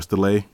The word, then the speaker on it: Stele: Also, this card right here works well with Visionary and Royal Tribute actually, and that's Gravekeeper Steel or Stele, which is actually how it's pronounced.